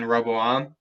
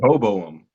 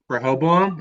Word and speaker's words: Rehoboam: I think it's Robo Rehoboam. Rehoboam. Is that Yeah, what it is? yeah, Uh, yeah. I think there's a ho in there. yeah. Rehoboam.